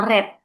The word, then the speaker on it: read: Nah, tapi cara membacanya beda, Bu. Read sama red.